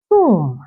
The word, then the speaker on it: tomb: then we also have t t not t tomb all right the tomb is empty the tomb